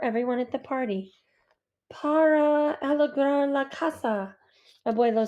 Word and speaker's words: casa: at the party La Casa Abuelo says in her Merry voice pronouncing Casa with a z instead of an S gracios I say and